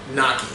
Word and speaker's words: gnocchi: So tonight we're gonna make gnocchi. It's actually pronounced a little bit different, you know, if you have an Italian accent or you're not from Pittsburgh, but it's gnocchi.